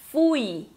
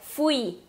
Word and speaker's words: fui: Em português a gente fala fui. E no espanhol é fui. Sílaba tônica lá no i.